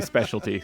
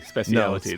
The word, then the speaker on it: speciality: Not going to say specialty, speciality.